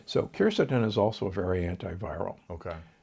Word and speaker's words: quercetin: I'm a big fan of quercetin, sometimes pronounced quercetin.